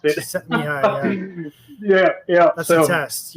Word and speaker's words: Csikszentmihalyi: If you look at what Csikszentmihalyi, there you go. I think that's how you pronounce it. Csikszentmihalyi, yeah.